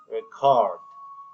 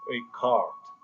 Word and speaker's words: record: different in age work when record is uses enough the stress is on the first syllable correct right but when we use the word record as a verb the stress is on the second syllable record record this is